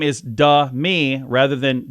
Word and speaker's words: Demi: Demi Moore on the record her name is du me rather than Demi so I do say it right Demi more